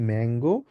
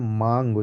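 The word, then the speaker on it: Mango: বেয়ারে বলবো ঠিক আছে যদিও মাঙ্গো আর ইংলিশে আমরা বলি হচ্ছে ম্যাংগো কিন্তু আমরা যার মানে বলবো হচ্ছে মাঙ্গো যেটুকু আকে বলা হয়েছে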